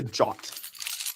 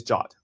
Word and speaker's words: JWT: Americans say jot. Actually, I think people have decided that it's jot. I've always just called it a JWT. No, jot. JOT, jot tokens.